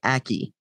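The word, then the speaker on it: Ackee: guide it says okay aki a-c-k-e-e okay it's just not a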